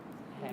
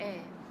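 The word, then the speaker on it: heir: Hair conditioning. Air, not hair.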